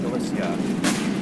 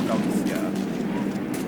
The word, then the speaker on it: Galicia: So I've already taken over La Coruña and a lot of Galicia, or Galicia, to be more correct in my pronunciation.